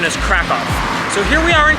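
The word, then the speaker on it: Kraków: So there's a couple different pronunciations. I guess in English you can say Krakow, it's with a K, but the more authentic pronunciation is Krakow.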